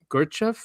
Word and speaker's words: Gurdjieff: Just remind me, I didn't put it in here, is that philosopher in the 1900s, Gurdjieff is how you say his name, and he said that